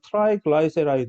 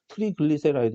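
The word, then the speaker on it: triglyceride: 원래는 발음이 교수가 왜 떠듬떠듬거리냐면 영어 발음은 트라이글라이세라이드 이렇게 발음을 하는데 우리는 한글판으로는 트리글리세라이드 이렇게 이야기를 하고 앉아있으니까 교수가 읽을 때 좀 낯설어가지고 그래요. 트라이글리세라이드 또는 트라이글라이세라이드 이렇게 발음을 하거든요.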